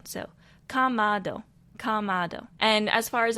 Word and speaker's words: Kamado: So, Kamado. Kamado. And as far as inflections goes, they say it pretty straightforward. It is just Kamado. It is not Kamado. It is just Kamado.